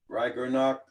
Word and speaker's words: Ragnarok: Rag, how you say your name again? How you say his name again there? Ragnarok. Ragnarok.